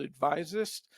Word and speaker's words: Advisist: Currently, I work for myself at a consulting firm called Advisist. And everyone goes, how do you pronounce that and why? Well, a physicist is an expert in physics, an advisist is an expert giving advice.